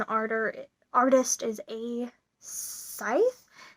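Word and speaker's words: Sceith: thread Geeks and the arter artist is a scythe it's pronounced or it's pronounced it's spelled s c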